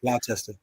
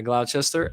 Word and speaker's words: Gloucester: I don't even know if I'm pronouncing that correct. Gloucester. Yeah, Gloucester.